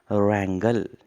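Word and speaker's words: wrangle: Third word जो है आज का वो है हमारा रैंगल। डब्लू जो है साइलेंट कहेंगे।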